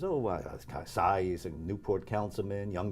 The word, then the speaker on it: Xay: Xay, like sigh of relief, it's not the full name.